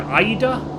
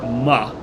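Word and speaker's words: 間: It could be pronounced either aida or ma. And I've never really got a handle on when you use one of the other two pronunciations.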